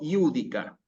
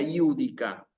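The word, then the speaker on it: Judica: ¿Qué significa iúdica? Júzgame, oh Dios. ¿Sí? Esta J que aparece aquí en realidad se pronuncia como una I.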